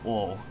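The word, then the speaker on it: を: the object particle is oh whoa but it's pronounced just o without the w sinister bean and then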